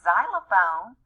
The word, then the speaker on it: xylophone: his sound there so this word is xylophone but it starts with a z now the word x-ray